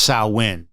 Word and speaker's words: Samhain: I said Samhain wrong, and I apologize. It's not Samhain. Samhain. So it should be pronounced Samhain, but let's face it, I'm a dumb American.